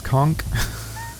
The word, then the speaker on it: conch: Did you know the proper pronunciation of the sea shell known as a conch is conchk?